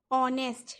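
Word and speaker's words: honest: इसी तरह से ऑनेस्ट है। ऑनेस्ट अगर हम देखें तो एच से स्टार्ट हो रहा है, लेकिन प्रोनाउंसिएशन अगर हम लिखेंगे तो हम लिखेंगे ऑनेस्ट।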